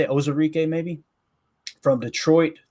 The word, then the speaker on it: Onwuzurike: And then you Levi Onwuzurike, I think is how you say it, Onwuzurike maybe, from Detroit.